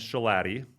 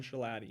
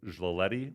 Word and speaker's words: Schilaty: Okay, so my last name is Schilaty, which is difficult to pronounce. Schilaty. And it's anglicized Arabic. So in Arabic, it's pronounced like Schilaty or something like that.